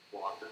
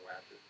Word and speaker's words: Wacker: My name is Wacker, or Wacker, however you want to pronounce it.